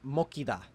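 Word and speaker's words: 먹히다: So this word, which means to be eaten, is originally pronounced mokida, but with this rule, the giot will become a kiet, so the verb is pronounced mokida.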